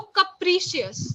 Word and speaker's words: capricious: pronounce it capricious yes so the first part is not cap it is cup okay cup so capricious now what is the